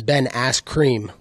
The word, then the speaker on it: Ben Askren: It's Ben Askren.